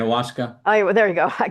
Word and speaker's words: ayahuasca: It's I had two of my clients had gone away to do the Iwagasa. I think that's Yeah, how you say it, right? ayahuasca.